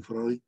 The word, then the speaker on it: Freud: El segundo hito, tenemos al doctor Sigmund Freud, escribe Freud, se pronuncia Freud, que puso en vitrina